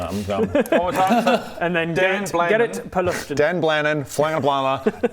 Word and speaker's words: Gerrit: roughly based on Dutch in my world.